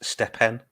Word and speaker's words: Stephen: I think you find out it's pronounced Stepen.